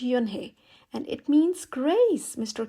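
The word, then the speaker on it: Unhei: turned to Joey she nodded slowly yes it's pronounced yunhi and it means Grace Mr Kim added Joey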